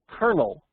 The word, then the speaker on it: colonel: read English I'm going to pronounce that word colonel you know like a kernel of corn and not colonel which